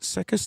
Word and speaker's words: Sekis: So that's Mark, is it Sekis, do you know? Pronounced Sekis? Yes, it is Mark Sekis, Yep, yeah. I wasn't sure if it was pronounced that way.